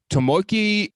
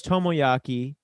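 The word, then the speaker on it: Tomoaki: nico's actual name uh tomoki in quotes nego come on it's tomoyaki tomoyaki excuse me i said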